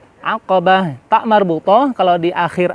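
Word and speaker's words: عقبة: tapi tak HAM al-aqobah aqabah airnya terasa bukan Alif atau Hamzah aqabah aqabah Pak marbutoh kalau di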